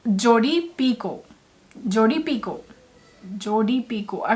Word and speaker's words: Picoult: I've been pronouncing her name as Jodi Picoult for ages because I didn't know better, and I don't know why I didn't just Google her name. It is pronounced as Jodi Picoult. Everything after O in her last name is silent.